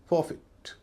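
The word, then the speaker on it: forfeit: पहले वे कुछ शब्द जहां उसका उच्चारण छोटी इ हो रहा है। एफ ओ आर एफ इ आई टी फॉरफिट।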